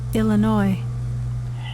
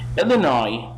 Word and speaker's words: Illinois: your hand is in opposite directions next one Illinois Illinois you can play that in Illinois the SNB